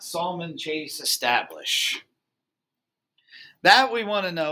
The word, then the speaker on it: Salmon: Now, why do I say Salmon Chase? Well, there's both. There actually is, and that's pronounced salmon, even though it's spelled like salmon, as in the fish.